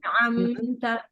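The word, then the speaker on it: أَنْعَمْتَ: Umahat bacanya buru-buru anharun, anharun, harusnya anharun gitu ya. An'amta, jangan buru-buru. An'amta.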